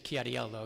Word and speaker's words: Chiariello: As we said, my name is Chiariello, but I really like when you say it, Mr. Chiariello, because that's the way it should be pronounced. My father got it all wrong when he came here, so thank you for that.